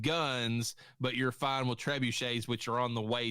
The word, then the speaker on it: trebuchet: I don't know how you pronounce it. It's those medieval rock throwing. Is it a trebuchet?